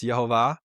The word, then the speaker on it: Yehovah: But yeah, I would pronounce this Yehovah. And I think that's the way the name is pronounced.